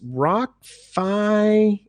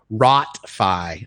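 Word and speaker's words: Rot Fai: I think it's Rock Fi Market. Is that how you pronounce it? I mean, I know Rock Fi is Thai for basically night market. Rot Fi, I apologize. ROTFAI is the, phonetic spelling.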